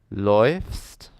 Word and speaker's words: läufst: So I would say ich laufe, du läufst, es läuft, wir laufen, ihr lauft, sie laufen. Now, notice the pronunciation has changed for the do and es form.